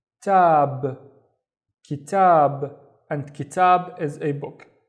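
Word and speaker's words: كتاب: The first syllable is ki, and then tab, kitab, and kitab is a book.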